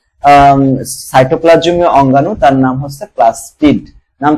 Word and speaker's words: প্লাস্টিড: লেখার সময় ঠিক লেখতো অনেকে এটাকে প্লাস্টিক উচ্চারণ করবে কিন্তু উচ্চারণ হবে প্লাস্টিড প্লাস্টিড কাকে কাকে বলে